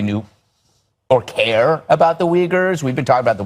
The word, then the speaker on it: Uyghur: The way you pronounce it is not Uyghur, that it's Uyghur.